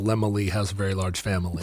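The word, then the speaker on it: Laemmle: had run his Studio I never would have thought to pronounce it lemoy but what is this old Hollywood where you're hearing people say Carl lemoy has a very large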